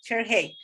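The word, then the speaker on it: Shere Hite: El orgasmo femenino es de Cher Haidt, se escribe S-H-E-R-E-H-I-T-E, Cher Haidt.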